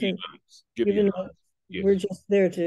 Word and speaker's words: Gibeonites: So the Gibeonites, is that the way you pronounce it? Gibeonites.